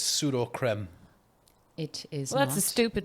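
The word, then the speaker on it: Sudocrem: word that I think sud cream PUD cream incorrect you wrong you are incorrect um it is trending because of the pronunciation it is pseudo creme it is that's a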